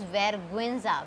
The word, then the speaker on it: vergüenza: This is vergüenza, we will read all the vowels together.